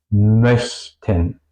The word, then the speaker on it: möchten: Lo mismo podría decir para la U. Es también súper difícil para hispanohablantes. Ejemplos: möchten, köche, möchten, möchten, querer o desear, köche, cocineros.